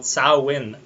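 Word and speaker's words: Samhain: oh really and all Celtic Harvest Festival called sauwin which is spelled completely differently than how it's pronounced but that's that's how I imagine yeah it's Celtic uh so yeah Salim in the Celtic tradition uh was a day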